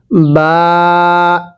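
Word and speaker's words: ب: আলিফ, এরপরে বা, এই যে এই হরফটির নাম হলো বা, বায়ের নিচে একটি নক্তা থাকবে, পড়ুন আলিফ। এরপরে বা, আরেকবার বা, এই বাটা দুই ঠোঁট থেকে উচ্চারণ হবে।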